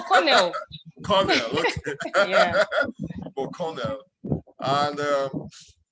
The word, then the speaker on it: Cornell: Colonel. No, Cornell.